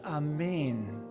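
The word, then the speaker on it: אמן: so ashay ah the original is in Hebrew for the word amen pronounced a main the the starting place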